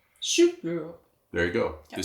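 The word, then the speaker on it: sølvbryllup: So it's the, and how do you say this in Danish? 25th wedding anniversary? The 25 Schulbryllup. Schulbryllup.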